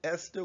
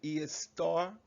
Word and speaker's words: Esther: esther in your book they taught you to pronounce it esther when it's actually is star so keep that in